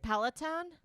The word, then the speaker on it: Peloton: like i don't understand everyone's obsession with these pelaton bikes is that how you say it it peloton yes and he was like everyone's obsessed with